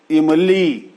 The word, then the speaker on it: इमली: जैसे इमली, तो ई छोटी है, ह्रस्व है। इमली और ली जो है वो दीर्घ है। तो इम बोलने में जितना वक्त लगा उतना वक्त ली बोलने में लगता है।